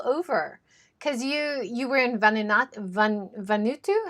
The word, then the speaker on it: Vanuatu: You have been all over because you were in Vanuatu. How do you say that? Vanuatu.